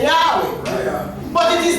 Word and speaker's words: Yahweh: If you ask the Hebrew man to pronounce this, he will say Yahweh.